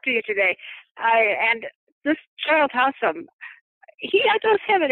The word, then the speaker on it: Childe: But it is Childe, even though it has an E on the end of it.